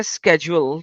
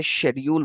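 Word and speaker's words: schedule: किरात कहते हैं प्रोनंसिएशन को सर प्रोनंसिएशन में स्पेलिंग सेम होते हैं आप इस को समझने की अगर आप बोलते हैं स्केड्यूल तो आप उसको स्केड्यूल बोल सकते हैं शेड्यूल बोल सकते हैं और इंडिया में पता नहीं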